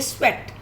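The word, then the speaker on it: sweat: अब आप इसको EAT ईट नहीं बोलेंगे, यहाँ पे इसकी साउंड ए आ रही है, स्वेट.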